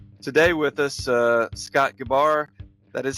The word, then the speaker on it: Gebar: excited to have today with us uh Scott gabar that is how you pronounce it Scott isn't it yes yep okay